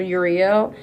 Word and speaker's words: Uriel: The archangel that usually is in your energy field when it comes to one 122 is archangel Uriel. If I'm pronouncing it wrong is spelled their name is spelled U R I E L.